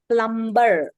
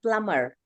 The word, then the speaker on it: plumber: We don't say plumber. We say plumber. Right? Comb. Plumber. B is silent.